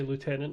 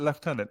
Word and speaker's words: lieutenant: It's the fact that we pronounce it left tenant is ridiculous and we should preserve that.